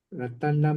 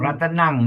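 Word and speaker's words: ratanaṃ: ratanam panitam Oke, remember m as m with the dot is ng ratan panitang ratan panitang no ratanang not ratan for us is we used as ng ratenang ratan panitam yes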